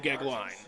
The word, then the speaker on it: Goeglein: Now, the only reason I know how to pronounce that name is because, ironically, my grandmother had the maiden name Gegline. Oh, well, there you go. Spelled, by the way, Goeglein.